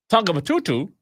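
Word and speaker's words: Tongatapu: The main island, Tongabatutu, that's exactly how you pronounce it. Tongabatutu, yes, is protected by lagoons and limestone cliffs.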